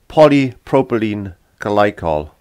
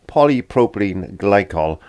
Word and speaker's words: polypropylene glycol: have a look at that and i did mispronounce it it's actually polypropylene glycol there we are polypropylene glycol so if you hear me say anything different i'm lying no so it's polypropylene glycol something you want to have a look at